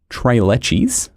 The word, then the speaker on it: tres leches: How do you say it in Spanish? It is said as tres leches.